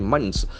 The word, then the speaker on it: months: month, Can you see we have a sound, in sound, th sound.